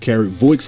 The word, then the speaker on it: Voix: Well, it's a French word, so we're all pronouncing it wrong.